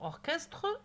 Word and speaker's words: orchestre: Mais pour orchestre, non.